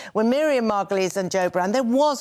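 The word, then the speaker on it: Margolyes: uprising when she's Miriam she's Margulies by the way hate to be pedantic but that is how she pronounces her name when Miriam magalies and Joe Brown there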